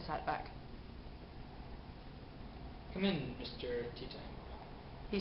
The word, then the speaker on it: Teatime: Teatime? It's pronounced tea time, sir. No, it's Teatime.